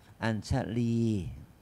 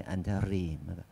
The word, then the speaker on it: อัญชลี: ที่ กล่าว ว่า อัน อัญชลี อัญชลี นี่ ลลิง ต้อง ออก เสียง ลี ลลิง ้า อัชรี มัน รัว ลิ้น ไม่ ได้ มัน ก็ มัน ไม่ มัน ไม่ ควร รัว ลิ้น อัญชลี อัญชลี ไม่ ใช่ อัญชรี ไม่ รลิ หน่อย นึง